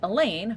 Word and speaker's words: Elaine: class or any class, and Elaine, rhymes with pain.